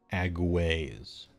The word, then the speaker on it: agues: Alright, I want to know how to pronounce this. Agues.